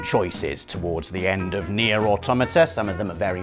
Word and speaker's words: Nier Automata: Nier Automata, that's right, I pronounced it right, is our penultimate entry this